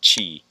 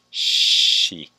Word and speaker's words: she: attention to my pronunciation i'm not saying chi i say it as she is she a nurse